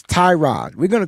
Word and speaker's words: Tyrod: It's spelled with a Y. Y makes the I sound. It's Tyrod.